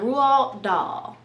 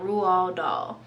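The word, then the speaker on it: Roald Dahl: we also have some rule doll okay i believe that's how you pronounce his name rule doll so charlie and the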